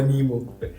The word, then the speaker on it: Nimoh: I'm from Ghana, so I would say I prefer the Ghanaian pronunciation. Which one is that? Because that sounds more authentic, Nimo. But I would tell my fellow Ghanaian friends that they should stop adding "ko" to it.